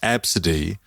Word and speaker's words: Abcde: and arrogantly professed that no no no it's pronounced absidy when it's spelled ABCDE everyone in that room